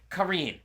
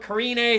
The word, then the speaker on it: Karine: contender series intro and she said kareem but they're going with karine so caller karine call